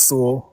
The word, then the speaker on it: Sewell: The Final Affair by Joshua Sewell. Sewell or Soul? How do you pronounce? Yeah, they're right. It's Sewell.